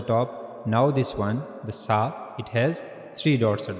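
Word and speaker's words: ث: But in sa we have to put the tip of tongue on the front teeth on the edges of the front teeth. Okay? So that's how you have to pronounce sa. This is the tip of the tongue and you have to put this tip on the upper incizers of the edges of the upper incorers.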